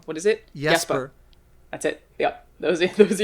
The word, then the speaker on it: Jesper: That's and Jesper Kid, whose name I pronounced wrong. What is it? Jesper.